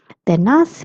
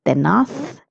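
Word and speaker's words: tenaz: The pronunciation of this word is tenath if you're in Spain and tenas if you're in Latin America. Zed has a sound of th or so.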